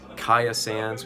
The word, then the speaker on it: Kya Sands: ot and then there's kaya sands which is kya sands and then there's oh